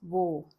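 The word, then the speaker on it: वह: But in the pronunciation we use wo. It sounds more like vo.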